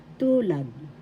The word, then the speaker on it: tulad: First syllable tu, second syllable lad. The first syllable has the accent. Tulad.